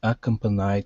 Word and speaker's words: accompanied: So our stress is right here. Accompanied.